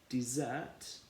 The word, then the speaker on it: desert: a very hot place desert being what you have after you finished all of your dinner dessert after three one two three desert so the emphasis here is on the first syllable isn't it d exact whereas in